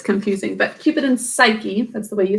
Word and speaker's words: Psyche: youngest who was named psyche by the way this is how psyche is spelled with the silent no that's confusing but keep it in psyche that's the way you